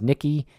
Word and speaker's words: Niqui: She was the youngest of 10 children, and Nikki, that's spelled Niqui, was very close to her parents and siblings.